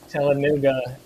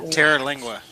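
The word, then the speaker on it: Terlingua: Oh, we got a comment about where Telenuga. How do you say it? Telenuga is? Terra-Lingua.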